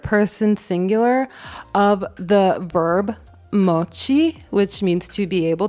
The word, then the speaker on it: moći: I'm American and we cannot for the life of us pronounce the C with the thing on the top. So I'm going to insert my friend pronouncing the word moći.